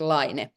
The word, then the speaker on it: Laine: we said it we we pronounce it line and we we often